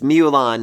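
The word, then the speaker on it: Myulan: pronounce her name seriously the way it's spelled in light novel is like like it shouldn't be physically pronounceable but it's mulan i'm very glad i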